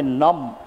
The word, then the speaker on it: numb: Excessive drug and technology usage may numb. Please underline the word numb. B is silent.